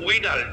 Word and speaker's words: Widal: থাকি সাধারণত, সেটা হচ্ছে ভিডাল টেস্ট। উচ্চারণটা হবে মানে লেখাটা হচ্ছে উইডাল, WIDAL, উইডাল টেস্ট, যেটাকে আমরা উচ্চারণে বলি প্যাথোলজির ভাষায় ভিডাল টেস্ট বলা হয়।